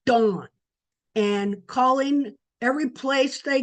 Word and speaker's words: Dan: Remember it's pronounced dawn. D O N D an dawn.